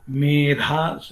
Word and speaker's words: मेधा: जैसा कि मेधा, आप लोग जाने मेधा सुखम, बहुत सारे लोग जाने, मेधा देवी जुषमाणान आगात, इस जगह में मेधा ध लगाना चाहिए।